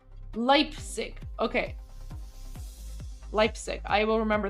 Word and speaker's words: Leipzig: Leipzig, is that how it's pronounced? Leipzig.